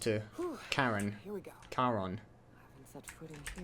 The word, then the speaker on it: Charon: Charon, apparently. Always pronounce that with a soft CH sound.